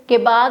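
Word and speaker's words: comb: वहां पे actually B होता है silent. So you have to से कोब नॉट कोब।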